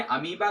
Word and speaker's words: amoeba: ठीक है, अमीबा का जो इसकी जो प्रोनाउंसिएशन होगी वो क्या होगी, अमीबा होगी और इसका मतलब जो होगा वो अमीबा, यहाँ पे जो मैंने लिख रखा है अमीबा। ठीक है, इसकी स्पेलिंग जो होगी वो AMOEBA होगी। ठीक है, अमीबा।